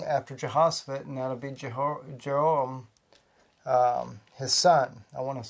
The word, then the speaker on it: Jehoram: I'm going to have to say it in Hebrew. Sorry, guys. It's easier for me to pronounce it that way. Jehoram.